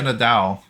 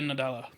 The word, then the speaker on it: Nadella: just Phil Spencer and God, how do you pronounce her name? Chang, Lulu, Satya. Oh, the CEO of Microsoft. Oh, Satya Nadal. Is it still the same guy that inherited it from? No, it's Satya Nadella.